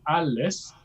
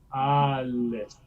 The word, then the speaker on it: alles: So actually the difference between dunkel and alles, they're both phonetically speaking the schwa, right? An unaccented neutral vowel. But they're quite different. If I say it really slowly, dunkel, alles. Yeah, they are not the same.